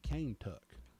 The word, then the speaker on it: Kentucky: there they called it cane tuck oh really yep that was an old pronunciation of of Kentucky so that was pretty